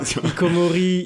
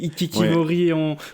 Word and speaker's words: hikikomori: Vous excuserez Lucas qui prononce pas bien hikikomori, ikikimori.